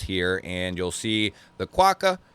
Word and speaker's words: Quokka: Quokka is how it's pronounced.